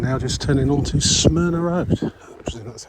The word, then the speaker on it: Smyrna: the least and now just turning on to Smyrna Road that's how you pronounce it SM yr na a smna it's